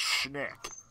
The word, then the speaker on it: Schnick: V, the correct pronunciation of my username, I mean, it's easy, it's Schnick.